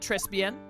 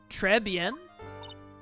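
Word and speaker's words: Trés Bien: This whole mess started on the third of last month and it happened at Trespen or Trebbian. I think it's Trebian. You don't pronounce the S. Treben.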